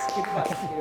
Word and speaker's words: Kiribati: Um, Kiribati. Say that again. Kiribati. Spell it. K I R I B A T I. That's correct. Or Kiribas. Kiribas. is pronounced as kitty bus, but you know, because